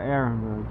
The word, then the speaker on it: Ehrenberg: The H is silent, I think. Yeah, Ehrenberg.